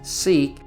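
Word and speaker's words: Siq: access is via a narrow crevice called the sick or pronounced seik which winds for about a mile through the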